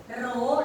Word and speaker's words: rho: Rho, nah itu dibacanya rho ya.